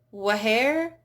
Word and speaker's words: where: So when the H is followed by a W, then usually it is not pronounced. So in words like what, when, where, why, you usually don't hear a what, when, where, why.